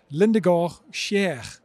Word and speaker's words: Lindegård Kjær: standard and with me here today stands John Lindor Sher did I say that correct John perfect pronunciation okay then I also have to introduce